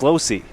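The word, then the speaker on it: Lohse: spelled like former cardinals hurler kyle losch but pronounced losi no relation to what we've seen mr kyle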